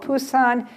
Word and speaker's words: Busan: Sometimes you see it spelled with a B as in boy or a P as in Paul Busan. Big powerhouse on the ocean.